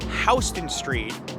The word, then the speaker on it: Houston Street: It's pronounced Houston Street, named after William Houston, who was a delegate from the state of Georgia to the Continental Congress.